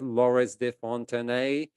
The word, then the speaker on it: Laurence de Fontenay: Today I have Laurence de Fontenay. Yes, I pronounced that name right, so that means my French is coming along.